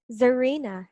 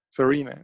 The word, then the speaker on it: Zarina: that right yes so how do you pronounce that in your language zarina yeah serena but with an english accent no not really a lot of filipinos